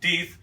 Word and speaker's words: Deth: on who's telling me this is either pronounced death or teeth by cherries it's an